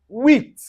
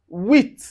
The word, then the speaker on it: huit: But then, anywhere you see u plus a vowel, you pronounce it as oui. Now you can find this in word like huit. Huit. Huit.